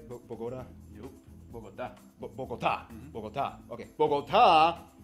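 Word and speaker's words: Bogotá: Diego, did I pronounce that right? Bogota? Nope. Bogota.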